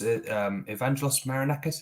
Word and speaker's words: Evangelos Marinakis: Yeah, with I believe, is it the owner's Evangelos Marinakis? Is that how you Yeah, pronounce it? yeah, that's correct.